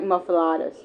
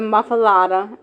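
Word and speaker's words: muffuletta: Tasty version of the muffalada. M U FF U L E T A M or pronounced M U FF u H L E T Uh are available at Central Grocery Cafe Mass Po and Gohan Butcher.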